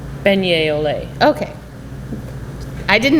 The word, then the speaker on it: beignet: Hey, at least I didn't put the T on beignet.